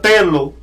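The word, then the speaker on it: θέλω: un verbo en griego que se pronuncia telo, el cual se manifiesta en un sentido de preferencia y amor.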